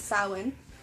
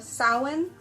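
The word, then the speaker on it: Samhain: have eight holidays um our New Year's is sin um spelled s a m h a i n s um but it's pronounced sa um then we have I believe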